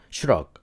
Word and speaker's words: 슈러그: 덤벨 슈럭, 슈러그, 쉬러그 이렇게 한글로 써여 있지만 덤벨 슈럭 그리고 바벨 슈럭, 슈럭 이렇게 발음을 한다.